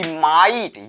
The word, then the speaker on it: might: गया, यानी ये साइलेंट हो गया, ये जीएच साइलेंट हुआ। फाइट मीन्स लड़ाई होता है। उसके बाद एक एग्जांपल हमने लिया कि माइट, MIGHT, इसको क्या पढ़ेंगे, माइट पढ़ेंगे।